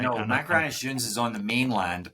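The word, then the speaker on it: Machrihanish: And I've read about I'm not going to say it right, Macrahanish Dunes. Good job. Okay, I think you nailed it for a Californian.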